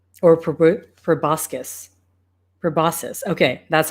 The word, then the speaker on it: proboscis: I'm not sure if I'm saying this right proboscis sorry I'm actually going to take my time